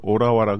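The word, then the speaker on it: Ottawa: 대로 그렇게 비슷하게 하고 오타와 우리는 오타와라 그러는데 오라와 그래서 어딘지 잘 모르고 갔던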